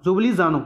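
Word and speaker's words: Ljubljana: लानो सॉरी जुबी जानो जुबली जानो जुबली जानो थे द कैपिटल है एल साइलेंट इस विच और यूरो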